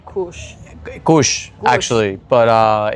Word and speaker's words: Cush: where I grew up, the indigenous language way of pronouncing my real name is Cush. So Cush as in Cush or like Cush?